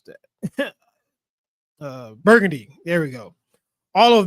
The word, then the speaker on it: Burgundy: Austria and the dukes of how do you pronounce that? Burgundy.